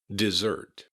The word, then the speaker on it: dessert: Notice that the S's in dessert have a Z sound. Dessert. Dessert. You want to keep that T at the end, and the emphasis is on the second syllable.